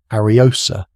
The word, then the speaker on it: Ariosa: Ariosa, pronounced exactly as it looks, Arios.